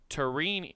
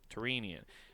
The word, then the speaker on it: Tyrrhenian: okay here we go terrine no the terrine easy Tyrrhenian it's a how it phonetically is said is T TR EE n ee u H and I'm gonna simplify